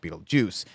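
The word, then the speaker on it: Betelgeuse: and I think that they spell it Beetle GE or however it is but it's supposed to be pronounced Beetle Juice and so I think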